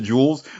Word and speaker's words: Jools: Yeah, he shares my name, but then he pronounces it Jewel. He shortens it to Jules, but he spells it Jools, and I really like that.